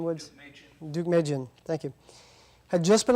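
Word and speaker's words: Deukmejian: General George helped me out with the uh pronunciation would Duke Duke Magan thank you had just been elected to succeed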